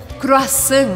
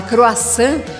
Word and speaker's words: croissant: Você provavelmente adora o croissant francês, mas você sabia que não se fala croissant, mas croissant. Croissant.